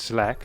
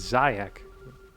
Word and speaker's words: Zayak: And they're pronouncing your name as Zlak. And I said, no, it's Zayak.